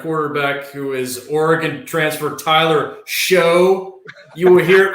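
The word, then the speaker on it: Shough: who is oregon transfer tyler show you will hear it pronounced shot however it is it is like pizza dough so he is tyler's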